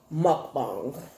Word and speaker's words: mukbang: my thing move on I think the correct pronunciation is mukbang not mine I'm gonna fall I'm